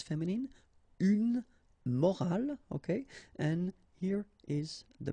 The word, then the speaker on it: morale: the same way, but in that case you've got this at the end, which is silent, so you don't pronounce it.